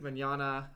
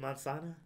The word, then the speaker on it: Mignogna: And if you were offended by Vic Mignogna, Vic Mignogna. Vic Tomorrow. Not spelled that way. It's spelled more like Italian-y. It has silent G's in it.